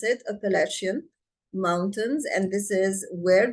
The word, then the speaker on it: Appalachian: Okay, so this is how we pronounce it, Appalachian Mountains, and this is where they are located.